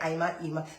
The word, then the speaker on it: Ima: They just say IMA. They say IMA, Ema, Irma, everything else but ima.